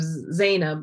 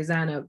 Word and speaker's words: Zainab: And Pakistanis tend to pronounce Arabic names differently. Like we, instead of Zaid, we'll say Zad, or, you know, just instead of Zainab, we'll say Zanab. So we sort of make